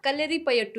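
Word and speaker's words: കളരിപ്പയറ്റ്: इसका असली प्रोनाउंसिएशन है कलरी पायट। कलरी पायट, कलरी पायट, क्योंकि लास्ट में हल्का सा ट के बाद साउंड, क्योंकि कलरी मतलब वो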